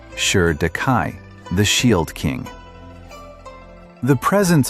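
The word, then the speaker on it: Shi Dakai: And Shu Dai pronounced Shir Dai, the shield king.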